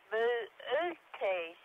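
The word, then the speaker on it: Boötes: remains ox driver plowing or herdsmen and correct pronunciation is booty was each open out separately and acts in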